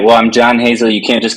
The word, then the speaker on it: John Hazel: in the world so I introduced myself as John Hazel as like uh as like almost like a one-syllable thing so John Hazel or one phrase so and then stark